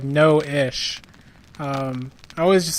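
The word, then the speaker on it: Noishe: mom and noise actually I've been saying it noise but apparently it's Noah SHhhh so you actually pronounced like no ish I always just say no leash so I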